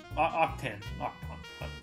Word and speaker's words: Octan: we're going on to octon octane this is how you say it uh a classic lego